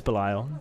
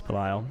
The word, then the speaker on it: Belial: I like that we're talking about pronunciations in chat, Yeesh. For those who don't know, no, it is Belial. It is Belial.